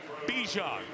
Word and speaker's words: Bijan: THAT'S THE WAY HE LIKES IT PRONOUNCED. HE SAID, HE WANTS TO BE BIJAN. YOU SURE? THERE ARE, LIKE, 20 MILLION PEOPLE WATCHING. YEAH, IT'S BACK TO BIJAN.